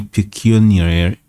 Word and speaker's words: pecuniary: whether they received any pecuniary, let's see, it's pronounced Pecuniary.